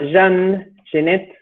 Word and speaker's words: Jean Genet: uno que se llama jean genet que es el dramaturgo y el otro que se llama hacer arte con doblete y 2 y con un al final a nuestro oído hispánico nos suenan igual pero en principio para